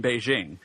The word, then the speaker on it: Beijing: that's really not true Peking is how you say the name of the city in some mainly southern dialects Cantonese Beijing is the Mandarin way to say it same with Nanchang and